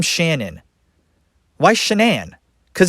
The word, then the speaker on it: Shan'ann: what because not only did she change the pronunciation from shannon to shenan she also changed the